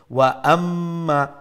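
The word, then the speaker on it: وَأَمَّا: তো ওয়াম্মা নাই, তো ওয়াওর পরে হামজা আছে, ওয়া আম্মা, এরপরে ফা ফাম ফাম্মুহু যদি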